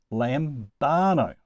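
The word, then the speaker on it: λαμβάνω: So it must go on the second to last syllable, lambano.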